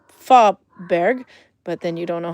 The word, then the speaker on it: Fåberg: If you pronounced it ah, then it would be Fåberg.